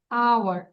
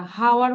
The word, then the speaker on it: hour: দেন আওয়ার, এইচ বলবো না, হাওয়ার বলি আমরা? We have only 1 hour left, এটা বলি নাকি? We have 24 hours left. আচ্ছা গুড, তাহলে আওয়ার।